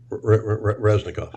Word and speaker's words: Reznikov: head of one of his weapons defense minister, Reznikov? Reznikov.